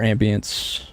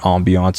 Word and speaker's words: ambience: I don't know why I keep calling it ambiance. I watched one guy in a video on another game called ambiance. I've just been pronouncing that ever since.